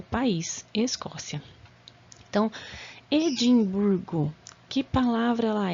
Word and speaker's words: Edimburgo: o país Escócia tão Edimburgo que palavra lá é que classificação ela é em Edimburgo a sílaba tônica é a penúltima Então vai ser paroxítona e arquipélagos ali Nós